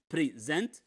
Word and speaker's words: present: For example, present, for example. Here, present, it's a verb. The second syllable is stressed. So again, present, here present. It's not the same pronunciation.